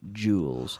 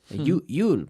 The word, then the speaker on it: jewel: Yul, but no. J. Think of a CH and activate the vocal cords, and you have the jewel.